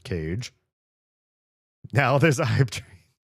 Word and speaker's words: Kaye: Legion Kaye just subscribed. Legion, what? I believe their name is pronounced Cage.